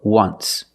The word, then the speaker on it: once: once but you say there's an o in once that's a vowel but phonetically it's not a vowel phonetically it makes the sound ww like a w w w once so phonetically the t